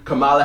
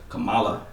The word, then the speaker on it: Kamala: You know, they just got that new Kamala Harris. Am I pronouncing her name right? Kamala.